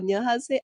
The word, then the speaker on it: Onionhasaeyopod: Say it like that? Onionhasaeyopod.